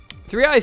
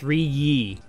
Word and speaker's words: 3ye: Wait, I called it 3i. It's 3ye. Oh man, it looks like it's I, but it's like spelled with like leet speak, like three instead of an E.